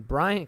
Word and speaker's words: Bryan: couldn't stop myself service it sounds like I'm saying Bryant yes why yeah it's just the way I say his name but I'm well aware his name is Daniel Bryan it's just like the